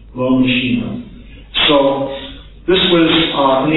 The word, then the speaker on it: L'homme machine: How would you pronounce that in French? L'homme machine. L'homme machine.